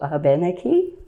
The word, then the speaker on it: Abenaki: spelled a-b-e-n-a-k-i and so Abenaki here here in New England is Abenaki that's simply the difference between the way the native speakers or the French speakers pronounced it and the English speakers pronounced it so either one is